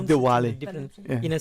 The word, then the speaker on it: Diwali: Even for us, different people It's pronounce Diwali. it different. Yeah. In a southern side, south side, they'll say Deepavali. Okay. So it's kind of different pronunciation. All right. Yeah. But it's a W for not a V that I'm mistaken.